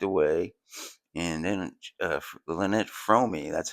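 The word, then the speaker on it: Fromme: So after he gave his whole spiel, he walked away and then uh Lynette Fromy, that's how you pronounce it.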